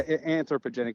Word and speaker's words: anthropogenic: Yeah, anthropogenic.